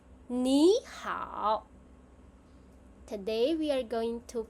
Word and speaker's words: 你好: So the first 你 will become 你. So when we combine them, it becomes 你好. Today we are going to practice more. 你好 Your turn.